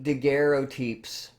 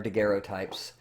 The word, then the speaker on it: daguerreotypes: These early daguerreotypes, or daguerreotypes, I'm using the fancy French pronunciation, were mostly, though, with